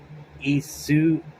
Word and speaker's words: Isuzu: volume 9, where it showed, what's her name, Isuzu, Isuzu.